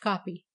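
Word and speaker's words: kopje: new rush the kolesberg Copts pronounced copy and the Kimberley mine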